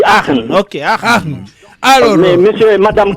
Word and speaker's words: Aachen: C'est Aken, la commune, si j'ai bien prononcé, c'est pas. Oui, à Aachen, on dit Aachen.